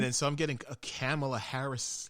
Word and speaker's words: Kamala: How do you pronounce it? It's Kamala.